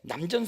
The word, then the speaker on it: 남전: 서산대사가 쓴 그 선가 귀감인데, 거북 귀자인데 그건 또 구감으로 읽어드리고, 남천 스님인데 원래 이렇게 하는 샘천자인데 남전 스님이라고 예우상 읽어드립니다.